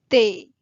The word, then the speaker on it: ते: For the he ending, you can write te or tay, however you are comfortable, but it should be sound te.